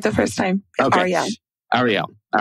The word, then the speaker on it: Arielle: Is it Arielle or Arielle? I'm so sorry. I should have asked you. No, you said it right. You said it right the first time. Okay. Arielle.